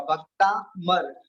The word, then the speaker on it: भक्तामर: का डंडा लग जाएगा तो भक्ता बन जाएगा, भक्ता मर, भक्ता मर। समझ रहे हो? और उच्चारण करने का भी प्रयास करेंगे, भक्ता मर।